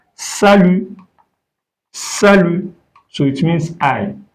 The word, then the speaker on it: salut: So, if you now say salut, salut. T is silent in French when it is the last letter. We don't pronounce it. So, you can say salut.